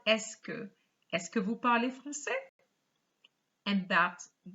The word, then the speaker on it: est-ce que: make a sentence but we are going to add esk i repeat ask for the pronunciation so it's just going to give you this escovu parle francais so the first sentence you had originally vo parle francais you just add esque escavu parlez francais and